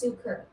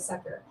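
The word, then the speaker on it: succor: Sucker is pronounced suker.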